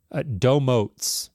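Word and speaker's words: Domotz: And wanted to take a minute to read one directly from Domotes, by the way. I got corrected, so it's a long O for both.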